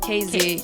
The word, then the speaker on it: Kazey: Kazey, yeah. Okay. Kazey. But it's spelled KAZ?